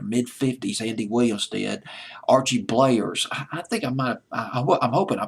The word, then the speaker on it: Bleyer: Archie Bleyers. I think I'm hoping I pronounced his name correctly. Bleyer, I believe was how you pronounce his last name, who ran that record label.